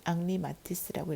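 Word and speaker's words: Henri Matisse: 누구의? 앙리 마티스라고 읽어야 돼요. 자, 그 앙리 마티스가 말한 creativity takes courage.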